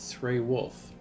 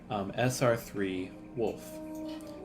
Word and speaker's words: SRE Wolf: Oh, my name is pronounced Sray Wolf. SR3 Wolf. Or in the game, it's SRE Wolf. I've gotten SR3 Wolf. I've gotten Wolf in some instances through the Twitch chats.